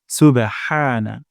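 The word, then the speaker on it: سبحان: না হয় হা সুবেহা হা হবে না হা সুবেহানা সুবহানা তারপর রব্বিয়াল যেন এমনটা না হয় রাব্বিয়াল র মোটা করে উচ্চারণ করতে হবে রব্বিয়াল সুবহানা রব্বিয়াল তারপর আজিম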